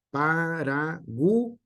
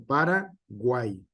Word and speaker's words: Paraguay: por ejemplo, podemos tener que Paraguay se divide en pa, ra y guay, va en una sola sílaba. No se divide en Paraguay, sino Paraguay. Es una sola sílaba, la tercera, y solamente tiene tres como tal.